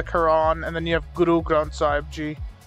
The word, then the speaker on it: Guru Granth Sahib Ji: and then you have Guru Granth Sahib Ji. Like, wait, you sure it's not just like a two-syllable, no. Like, easy little thing? Nah, it's Guru Granth Sahib Ji.